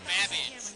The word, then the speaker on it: Babbage: Your buzzer's the letter B as in Babbage, which is something that rhymes with cabbage.